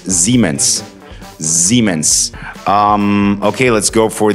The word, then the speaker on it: Siemens: We're close because the S in German can be pronounced as a S sound at the end of the word, but in the beginning it's generally a Z sound, so it's Siemens.